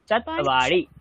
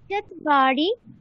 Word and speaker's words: चत्वारि: মানে চাতওয়া চাতওয়া আচ্ছা এরকম বলো তকে হাফ উচ্চারণ করো তারপরে বা বলবে চাতওয়া বলো চাতওয়া আচ্ছা স্যার চত্বারি চাতওয়ারি চাতওয়ারি হ্যাঁ चत्वारि पञ्च षट् सप्त ষট ষট না ষট षट्